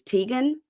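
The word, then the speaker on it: Tadhgain: whose nephew is nam name is tan but it's spelled t a d g h a i n so it looks like Tad hegan oh interesting Tad never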